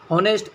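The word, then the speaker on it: honest: हॉनेस्ट as silent है, तो ए ई आई ओ यू, तो इधर भी वही वाला सिस्टम, आप एन यूज़ करेंगे।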